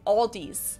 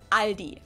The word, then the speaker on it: Aldi: before but I think most people say Aldi or they also sometimes add an s that isn't there in the end and say Alis in Germany we just say Aldi it has its origins